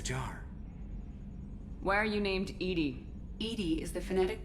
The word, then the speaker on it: EDI: airlock is a jar why are you named Edie Ed is the phonetic pronunciation of Eed the that is an acronym